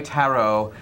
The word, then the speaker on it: tarot: But he's agreed to come on and read my tarot, and or is it tarot? No, tarot. Tarot is the proper pronunciation.